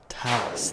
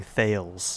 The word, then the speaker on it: Thales: Talus, that's how you say it. I was thinking Thales.